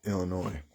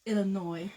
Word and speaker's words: Illinois: Snow and below zero in Illinois. Yeah, that's the thing that we're joking about. So it's pronounced Illinois, even though when I first read it, I wanted to say Illinois because, you know, French.